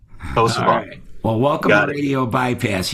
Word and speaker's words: Posavant: couple weeks ago when I played their song Posabands. Did I say that right, guys? Yep, that's right. Posabands.